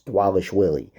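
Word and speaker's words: Dvalishvili: It's Dwalishvili.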